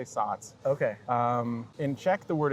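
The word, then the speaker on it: Saaz: Oh, I say Satz. Satz. That's how I it's... think the Z at the end is pronounced like a TZ in Yeah. German, and I say Satz.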